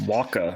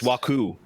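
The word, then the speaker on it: Wawku: Waka, right? It's Waku. Wow, cool. Wow, cool. Wow, cool. Yeah, you gotta get that extra W in there.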